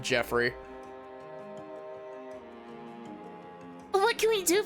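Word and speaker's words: Geoffrey: Jeoffrey Jeoffrey wow I I have to actively like keep my brain from pronouncing that name as Joffrey instead of Jeffrey what what can we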